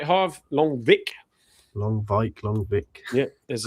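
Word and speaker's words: Lonwijk: Longvik, I can never remember how to pronounce his name. Nigel Longvik. Is that right, Harv? Longvik? Longvik.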